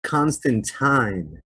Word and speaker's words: Constantine: by neil gaiman himself who pronounces it constant time so i'm gonna start being fancy and i'm gonna start saying john constantine i am not gonna